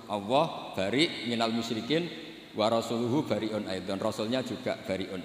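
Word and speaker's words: وَرَسُولُهُ: Terus sama Sayyidina Ali dibenarkan, yang benar bacanya itu wa rasuluh. Allah bari minal musyrikin, wa rasuluhu bari'un aidan.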